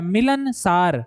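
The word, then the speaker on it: मिलनसार: का प्रयोग हुआ है मिलन सार मैं फिर कह रहा हूं मिलन सार आप इसको उसी आप उच्चारण इसका सीखिए मिलन सार लेकिन पूछा क्या है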